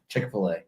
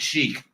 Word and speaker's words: Chick-fil-A: Chic I'm at chicfila Chick-fil-A that's what it was some people pronounce it Chic because that's because the way it was spelled it's never been that now in this reality so